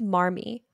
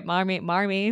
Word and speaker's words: Marmee: New Englanders all would have pronunciation the R as ah when they referred to their mother. So it's kind of like saying mommy.